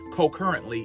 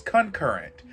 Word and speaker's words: concurrent: seasons that we were co-currently in, if that's a word. editing this video and the word instead of co-current is concurrent. I knew it was a word and I was saying it wrong, but y'all let me